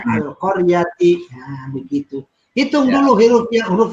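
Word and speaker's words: القرية: Nah, itu baca Al-Qaryati. Nah, kalau misalnya disuruh coba baca dari Koryahnya, dibacanya Al-Qaryati.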